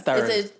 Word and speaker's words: Tarun: Yeah, because it's like, it's Tarun. I was like, it's Tarun, right? And then Iram's like, yeah, but you could say Tarun.